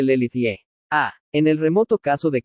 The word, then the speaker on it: Les Luthiers: ¿Y quién o quiénes son Les Luthiers? Pronúnciese Lelithie.